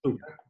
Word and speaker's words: Pachuca: And listen, I mean, this is presumably, as you said, it was a very well-known story in, is it Pachuca? How do you say it? Yes, Pachuca, yeah.